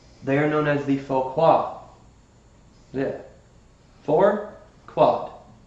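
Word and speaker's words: Phaquad: They are known as the Foquad.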